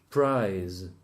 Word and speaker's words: prize: Prize. Price. The Spanish people don't know how to say the Z at the end of the words, so they will all say price for both.